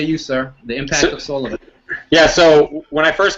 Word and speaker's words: Solavei: got started, I think it took me a week to be able to say Solavei. I think I kept calling it saliva. And I signed somebody up today, and they're like, how do you pronounce this? It's Solavei, right?